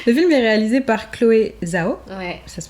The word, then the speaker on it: Chloé Zhao: Le film est réalisé par Chloé Zhao. Ouais. Ça se prononce comme ça.